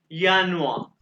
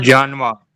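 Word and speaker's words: Januar: ये आर जो है ना, इसको अपने जर्मनी वाले कैसे बोलते हैं? यानुआ, यानुआ। क्या? यानुआ, जानवा जे नहीं, यानुआ। जानवर या मैंने कहा एडवा आर को नहीं बोलना आपने, यानुआ।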